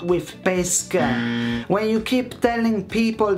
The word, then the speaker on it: pesche: When you want spaghetti with pesce and not with pesche.